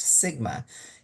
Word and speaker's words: sigma: It's pronounced sigma.